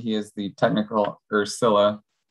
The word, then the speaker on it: Scylla: He is the technical, or Scylla, the pronunciation, believe is Scylla.